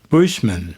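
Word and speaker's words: Buchman: There was a Lutheran minister named Frank uh Bushman. I hope I pronounced his last name correctly.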